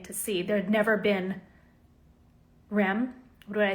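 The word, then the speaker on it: Reims: There'd never been Rem. What did I say? Rems. How do you pronounce it? You don't pronounce the M, but you do pronounce the S.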